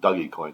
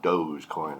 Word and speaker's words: Dogecoin: kid-ish to me so i'm going to continue saying dougie coin because it's more fun but i do know how to say it's called dogecoin i gotcha just want to